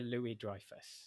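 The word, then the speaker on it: Louis-Dreyfus: Julia Louie Drifus. There you go. I can't pronounce things.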